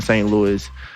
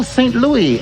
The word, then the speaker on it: St. Louis: see st louis oh saint louis no that's not what i said you heard me say it no bro you heard me pronounce the s but yeah saint louis is is is just